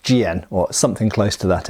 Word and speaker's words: jian: magnificent qu GN as some people might say jammed but I've been corrected it's pronounced GN or something close to that anyway and it's